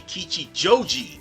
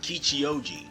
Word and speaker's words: Kichijoji: And I mispronounced that. It was supposed to be Kichijoji, not Kichioji.